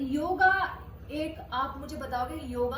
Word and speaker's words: योग: ये एक साउंड, अगर हम हिंदी और इंग्लिश को देखें तो योग, उसमें लास्ट में अ की साउंड आती है, जो अभी इंग्लिश की प्रोनाउंसिएशन है वो योगा हो चुका है।